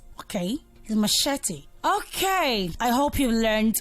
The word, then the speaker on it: machete: chef and the last one how there is machete machete so try not to say much it's okay is machete okay I hope you learned one or two